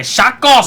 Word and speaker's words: Chacos: Yeah, you gotta say Chacos. Like a Choco Taco. That's what it reminds me of, which are delicious.